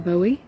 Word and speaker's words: Boughey: Hello, my name is Boughey. That's B-O-U-G-H-E-Y. It's pronounced like David Boughey, who's my brother, but not the famous David Boughey.